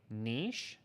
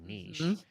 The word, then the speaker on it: niche: laughing Katie because um sometimes people say Niche Canadians always say Niche Americans say Niche which sounds like something you don't want in your hair yeah they're wrong they're